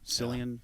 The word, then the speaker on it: Cillian: Cillian, is that how you say it?